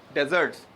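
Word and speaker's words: dessert: हाँ नहीं नहीं नहीं, डेजर्ट्स का मतलब मीठा, डेजर्ट्स, ये डेजर्ट नहीं है, क्या है? डेजर्ट्स। वो जो होता है वो होता है डेजर्ट, प्रोनाउंसिएशन में भी फर्क है भाई। डेजर्ट सहरा, और ये क्या है? डेजर्ट, मीठा। ओके, तो जब स्ट्रेस है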